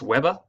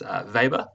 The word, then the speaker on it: Weber: Now you'll hear it pronounced Weber, but it's actually pronounced Weber.